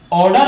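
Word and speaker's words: odour: इन दोनों वर्डों का pronunciation ऑर्डर होता है और ऑर्डर का हिंदी मीनिंग होता है गंध या सुगंध, यानी अच्छा गंध।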